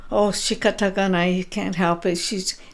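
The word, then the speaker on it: 仕方がない: Shikatagana, right?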